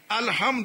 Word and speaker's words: الحمد: یہ جو ہم پڑھتے ہیں الحمد للہ رب العالمین یہ پڑھتے ہیں نا, یہ صحیح نہیں ہے. یہ ہے پیش دو الحمد للہ, مگر ایک بات